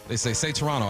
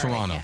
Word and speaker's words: Toronto: And then they say Toronto.